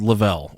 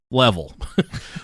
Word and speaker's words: Lavelle: This is in reference to, so she was part of a pyramid scheme company called Lavelle, or as I like to call it, Level. But it's pronounced Lavelle, and they sell these patches.